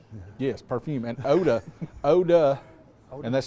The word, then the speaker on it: Eau de: And Oda, and that's spelled E-A-U space D-E, Oda.